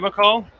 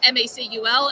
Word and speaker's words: MACUL: So is this your first time at McCall? This is, yes. And I feel a little embarrassed because I kept pronouncing it MACUL, and then I learned it's called McCall, and I had no idea.